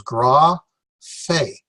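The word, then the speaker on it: γραφή: Gra, fe. The stress is on the fe.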